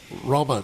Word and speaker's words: Roma: Those were the authentic gypsies that I used to see as a teenager in Brazil, real, traditional Roma gypsies, How do you pronounce that?